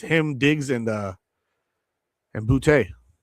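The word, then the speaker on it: Boutte: It's him, Diggs, and uh and Bouty or Booty. I assume it's French. He went to LSU at I believe he's from Louisiana. It's probably actually pronounced bouty, but today he was Booty.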